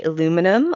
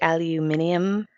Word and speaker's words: aluminium: So here we'd say aluminum, or I think, does the rest of the world say aluminium?